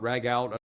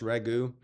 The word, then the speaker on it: ragu: It's not rag out, it's pronounced ragu.